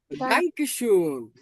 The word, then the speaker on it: Danke schön: এসেহা, এসেহা। জার্মানিতে যদি কোনো ওয়ার্ডের ভিতর এসেহা থাকে, এটার উচ্চারণ হবে শয়ের মতো। কেমন হবে? শয়ের মতো। এই তিনটা ওয়ার্ড যদি একসঙ্গে থাকে, এসেহা, এসেহা, শ, শ।